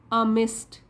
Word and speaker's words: amidst: अमिस्ट, D silent है इसमें, D pronounce नहीं करेंगे। अमिस्ट, बीचों बीच।